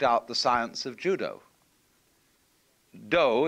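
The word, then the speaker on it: 道: the science of Judo do is the way the Japanese pronounce Dao ju means gentle Judo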